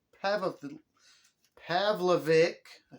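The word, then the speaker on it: Pavlovich: a heavyweight fight between derrick lewis and sergey pavlik have a pavlovic i said it right the third time and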